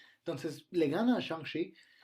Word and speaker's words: Shang-Chi: Lo pronuncio así porque así escuché que lo pronuncia Kevin Feige, no es porque sea especial, sino porque así lo dicen las entrevistas y quiero pensar que el productor de Marvel sabe cómo se pronuncian los héroes.